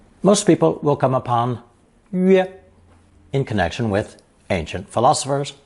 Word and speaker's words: 曰: Pronounced first tone, 曰, 曰.